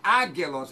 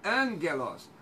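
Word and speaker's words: ἄγγελος: Por exemplo, gama, antes de gama, tem som de N. Não é, não é ágelos, é ângelos.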